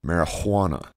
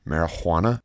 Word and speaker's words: marijuana: he started with marijuana which he spelled and pronounced with a hard h marijuana this probably seemed bizarre